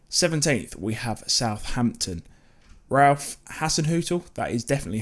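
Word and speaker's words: Hasenhüttl: have see again 17th we have southampton ralph hasson hotel that is definitely how you say it when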